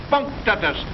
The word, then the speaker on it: punctatus: Octopus punctatus, accent on the punk.